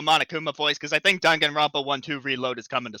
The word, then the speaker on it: Danganronpa: I know it's Danganronpa, right? That's how it's pronounced. Danganronpa.